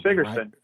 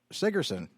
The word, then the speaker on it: Sigurdsen: I'm with Sig Sigurdsen, and we'll Sigurdsen. be right, Sigurdsen. The Scandinavian Germanic pronunciations are always on the first syllable instead of the second syllable, like Latin names.